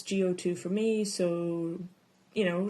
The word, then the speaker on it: GO2: the label go2 um I know it's pronounced go to but it's go2 for me so you